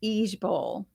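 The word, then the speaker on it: IJBOL: initials for this no it's pronounced each Bowl e e j Bowl instead of i j b o l well it's just easier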